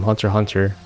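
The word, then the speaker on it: Hunter × Hunter: suzumia zulua zoldig from Hunter Hunter we don't pronounce the X here guys and the original Edge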